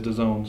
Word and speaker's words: DAZN: It's DAZN, but the way they want it is DAZN.